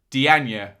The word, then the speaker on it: Diagne: Diagne, I'm told, is how it's said. Up top here are the goals. But first, I just wanted to show you this at 0-0. Good chance for Diagne on the far post.